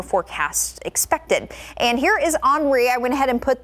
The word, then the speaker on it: Henri: We're watching Hurricane Grace in the Caribbean and Henri, which is still a tropical storm, south of Bermuda. And yes, that is how you pronounce that, Henri, not Henry.